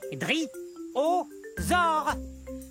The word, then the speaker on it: dryosaure: Mon nom est facile à prononcer. Dri-o-zore.